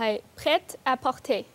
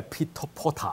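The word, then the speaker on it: prêt-à-porter: 我還以為是讀這個什麼 Peter Potter 我還以為 Harry Potter 有關係，原來讀音是不同的。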